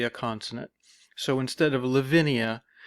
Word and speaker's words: Lavinia: this name okay live is pronounced normally Lavinia okay one two three four syllables okay but what we've